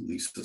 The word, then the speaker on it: Leesa: Now, shifting topics a little, shifting topics a lot, you were the interim CEO until January 2021 of Leesa. Am I pronouncing the company right?